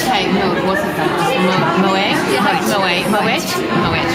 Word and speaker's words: Moët: You know, with being French, that the T was silent. So you Moet or Moet. Yeah.